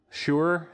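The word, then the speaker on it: Shure: or a whitfill or is this sir or sure sure is the microphone brand sir it's a guitar brand like like pardon me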